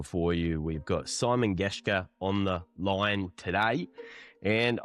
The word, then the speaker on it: Gerrans: Is Gerrans or Gerrans? Gerrans. Yeah. Gerrans. That's pretty accurate.